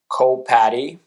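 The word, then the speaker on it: coWPAtty: Moving forward, we're going to be looking at the co-patty, or whatever you want to call it. Um, it's spelled CO and then WPATTY.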